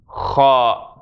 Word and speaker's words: خ: So the letter is Khaa. This sound we don't really have in English.